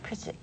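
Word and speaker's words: Pridget: So now we spell P-R-I-D-G-E-T. Okay. You know, but they still pronouncing it Pritchett.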